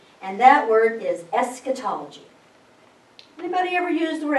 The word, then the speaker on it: eschatology: It's a Greek word, and it means last study.